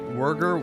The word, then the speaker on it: Wurger: And also, according to Freya, it's like Wurger like a burger with hard G.